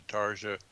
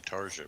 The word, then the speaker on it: Tarja: well, I think it's actually Tarja, but I could be wrong. Or Tarnia. At any rate, The J is silent, by the way, there.